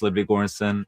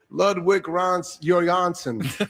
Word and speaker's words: Ludwig Göransson: My name is Ludwig Göransson. So that's how it's pronounced. Ludwig Göransson.